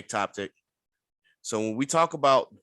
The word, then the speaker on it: ectopic: talk about uh I believe the word is atopic or ectopic I can't really pronounce that ectopic atopic okay ectopic so when we talk